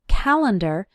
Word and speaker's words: calendar: You might notice that when we pronounce it, calendar, it sounds like ER, but when we write it, the correct way is to use AR.